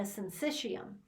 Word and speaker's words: syncytium: as a single unit we call that a syncytium okay this should be in your book and